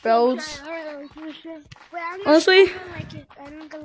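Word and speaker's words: Brodes: My name is B-R-0-D-E-S, pronounced Brayards.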